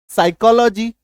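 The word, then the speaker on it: psychology: पे साइलेंट हो जाएगा ये देखो जैसे पी के बाद एस है बी एन एस टी साइकोलॉजी पी का उच्चारण ही नहीं है गायब हो गया एस वाई सी एच ओ ए वा साइकोलॉजी पी के बाद देखो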